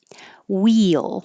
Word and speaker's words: wheel: Wheel is that weird situation where you're almost making two syllables. I wrote it like two, but it's just blended together. Very high for the e and then sliding down and back up for the l.